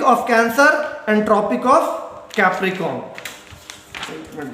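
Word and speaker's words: Capricorn: अब यहाँ स्पेलिंग में हमेशा पूछता हूं और आप लोग हमेशा गलती करते हैं, ज्यादातर बच्चे कैप्रिकॉर्न पढ़ते, बट यहाँ पे आर है, और कैप्रिकॉर्न पढ़ेंगे तो आर मिस नहीं करना।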